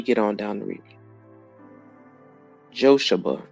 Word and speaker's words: Jochebed: Jochebed is the way the name is pronounced. It is Jochebed.